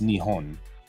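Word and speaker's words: 日本: one here we go Japan in Japanese of course Japan isn't Japan it's nion right so nion can either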